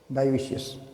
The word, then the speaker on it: dioecious: जो डायोशियस, जो डायोशियस होता है, डायोशियस, ये स्पेलिंग लिख रहा हूँ, DIOECIOUS, डायोशियस।